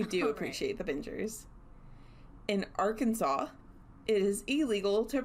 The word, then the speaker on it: Arkansas: In Arkansas, it is illegal to pronounce it Arkansas.